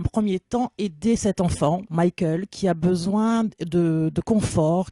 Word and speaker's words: Mickael: On prononce comme ça, Michael? Michael.